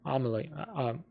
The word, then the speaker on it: Amelie: The next oldest sibling was his sister, Amelie. I say it like almost like Emily, but it's more like Emily, who took on a